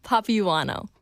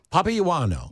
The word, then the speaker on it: Papaioannou: even going to try last name pronunciation papano Papa Yano yes papa Yano papao I feel like